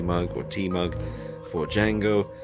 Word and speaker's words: Django: And a nice little coffee mug or tea mug for Django. The D is silent.